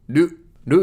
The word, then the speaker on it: る: Lu is pronounced like a combination of ru in rule or root and lu in loop.